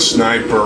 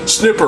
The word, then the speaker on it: sniper: Or as some people like to, they just like to be improper and stupid and pronounce it as snipper rifle. Yeah, snipper rifle. That sounds just disingenuous and stupid. Ah, I tripped on a grenade. Don't call it snipper rifle.